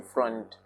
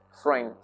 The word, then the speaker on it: Freund: Take note of my pronunciation of Freund. I am not pronouncing front. Freund.